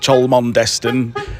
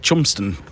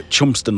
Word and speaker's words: Cholmondeston: to the to the marina, everybody calls it Cholondest and we would tell people, yes, it's Choland Destin because it's easy and that's the way it's spelled, but actually it's pronounced Chumsten. So, Chumsten lock.